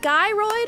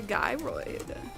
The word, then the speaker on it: gyroid: How do you pronounce a gyroid? Pronounce with a hard G like in guy, followed by roid.